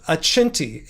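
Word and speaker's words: Acenti: It looks like a accenti like accent, but I think they're playing off the Italian pronunciation. Aenti a c e n t i.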